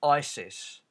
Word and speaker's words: ISIS: It is probably not coincidental that their acronym is pronounced ISIS. ISIS was organised in 1962.